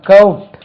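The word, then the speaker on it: court: இது ரெண்டுக்கும் உச்சரிப்பு வித்தியாசம். இதே உச்சரிப்பு பாருங்க, கவுட், இது கவுட், இது கோட், ரெண்டும் ஒரே உச்சரிப்பு இல்லை.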